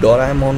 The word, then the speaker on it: Doraemon: Then क्या आपको पता है कि जो डोरेमोन है उसका प्रोनाउंसिएशन डोरेमोन होता है, और डोरेमोन का दो जैपनीज वर्ड का मिक्सचर है, डोरा प्लस ईमोन, और इन दो जैपनीज वर्ड का मतलब होता है आवारा मेल कैट।